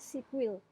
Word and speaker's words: SQL: Hai Kebanyakan orang Indonesia jadi bacanya SQL pedal cara baca yang benar itu adalah sipil Hai hey next next di sini tujuannya tujuan